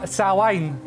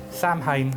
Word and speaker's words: Samhain: my favorite as well salwain or if you're an american samhain i know i'm sorry i always say it like that i know hen cringes